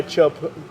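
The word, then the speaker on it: Teahupo'o: that Tahiti for sure you want to try chopu they pronounce it yeah not big but not that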